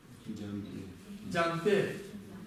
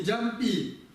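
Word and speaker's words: འཇམ་པའི: С родительным падежом это будет звучать как пе. Джампе. Не джампаи, не джампи. В Бурятии очень часто произносят джампи. Но на самом деле это джампе.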